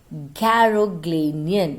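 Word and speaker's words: Garoghlanian: the caro glennian tribe children please pronounce it correctly garoglinian okay garoglinian tri living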